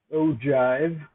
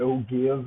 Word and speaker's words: ogive: our frequency polygon so this last one is pronounced ogive or plural ogives it's not oh give or gives um and these are